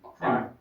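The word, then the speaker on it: PR1ME: Immigrated to New Zealand in 1983 and enjoyed, how do you pronounce that? Prime or PR1. Prime. Prime. It's got a one in the middle there instead of the nice very confusing.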